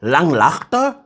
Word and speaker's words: Langlaagte: Who can pronounce Langlaagte?